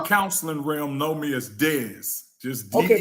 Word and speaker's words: Dez: Well, people in the counseling realm know me as Dez. Just Okay, D-E-Z, Dez.